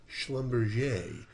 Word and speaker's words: Schlumberger: I believe the correct pronunciation is Schlumberger.